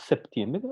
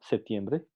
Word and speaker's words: septiembre: En algunos casos, como en septiembre, la P implosiva se debilita tanto que en la palabra rápida no se pronuncia.